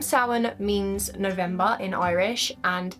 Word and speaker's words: Samhain: It has a few different variations, but the most appropriate that I found are sin or sin.